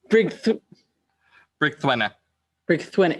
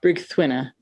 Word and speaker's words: Brig Thwinna: I, I told you, Brig Thwinna. It literally sounds the way it's spelled. Yep. Brig Thwinna.